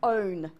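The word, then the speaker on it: -one: And it ends in O, not one. It's pronounced own.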